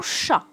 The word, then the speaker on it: chat: Mon chat. Alors, aussi ce mot se termine par la lettre T et c'est une lettre qui ne se prononce pas, mais c'est pas comme